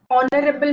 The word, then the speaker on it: honorable: umbrella umbrella makes okay now words beginning with h where H is silent okay now if you